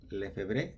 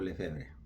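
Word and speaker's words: Lefebvre: En los años 70 apareció un obispo Marcel Lefebré o Lefebre, depende de como lo quieran pronunciar.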